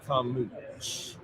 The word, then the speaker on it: Carmouche: Well, I'm saying Carmouche. I believe like it's smooch. Carmouche, and I think that's the correct way to say it.